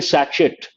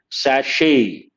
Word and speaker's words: sachet: A lot of people say, give me one sachet. It's a French word. You should not say sachet. The correct pronunciation, sachet. Sachet. Now you may ask, sir, where is the T sound? There is no T sound, sachet, not sachet.